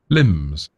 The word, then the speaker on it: limb: How do they say it's limbs? Limbs. Limbs. Limbs. Yeah. Yeah. And if you look here and there sort of the code looks like an L, an I, and an M. Limb.